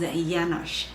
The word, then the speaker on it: Janusz: pronounce his name um his second name is janash that's a hungarian name it's actually spelled with the j so it's janusz um iyanesh